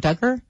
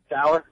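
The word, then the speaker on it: Dougher: And is this something new with Chairman, how do you say her name, Duggar? Dower.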